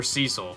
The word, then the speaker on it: Cecil: guess cil's one too is it cesil or Cil which one's the real one forget I think I think they pronounce it Cil right but the real name is Cecil nice shot so